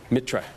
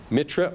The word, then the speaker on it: Mitra: r a s uh if you want to spell it in Indian it's MIT T R A that's shorter Mitra Mitra or mithis also it was it was the